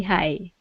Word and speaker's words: high: the weights look really high perfect okay just like that yeah the GH doesn't exist anymore okay okay it's pronounced the same as saying Hi how are you okay so yeah hi